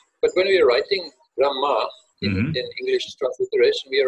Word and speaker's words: Brahma: That is, the Hakara also will take the sound of Makara. It is Brahma, as though it is B-R-A-M-M-A. That is how it is read.